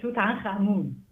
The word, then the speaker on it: Tutankhamun: I pronounce it Tutankhamun.